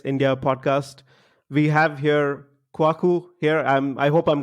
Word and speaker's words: Kwaku: bit tricky to pronounce you pronounce the a a bit more so it's kwaku but to be honest